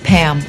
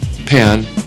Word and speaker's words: Pam: pronounce others names incorrectly no it's actually it's pam i'm sorry well pan no my name is pam are you saying pan or pam i'm saying pam or they just make